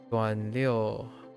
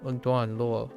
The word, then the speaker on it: 段落: Duan liu. Heck is Duan liu? Oh no. Paragraph? 段落，段落. Yeah, I pronounced it properly. 段落. Duan luo.